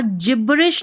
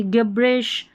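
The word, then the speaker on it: gibberish: पर जायंट, ठीक है, इसको यहाँ पर जिब्रिश नहीं पढ़ेंगे, गिब्रिश, यहाँ पर जिस्ट नहीं, क्या पढ़ेंगे, ज पढ़ेंगे या ग पढ़ेंगे, ज, जिस्ट, गिस्ट नहीं पढ़ेंगे, ठीक है।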